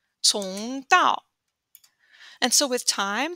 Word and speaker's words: 从: Cong with the C is pronounced TS, cong, cong dao.